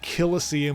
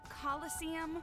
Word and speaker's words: coliseum: Kilosum is pretty good.